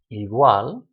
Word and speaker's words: igual: It's not igual, igual. The u and the a mush together into one syllable, but that's the syllable that you stress, igual.